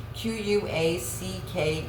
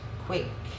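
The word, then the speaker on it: Quacke: The camera would zoom into a business card that says Earl Q U A C K E.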